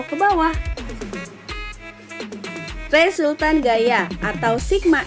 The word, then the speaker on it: sigma: Jadi yang seperti huruf E itu dibacanya sigma.